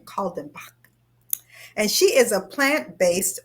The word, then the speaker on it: Kaldenbach: See, she told me how to say her last name, Kaldenbach.